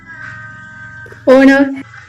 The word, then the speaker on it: honour: How do you pronounce the word honor? Honor.